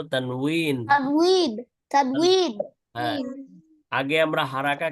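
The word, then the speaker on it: تنوين: তানবিন হ্যাঁ, তানবিন বাংলায় তানবিন বলা যায়, অথবা আরবি উচ্চারণটা আমরা বলবো তানউইন।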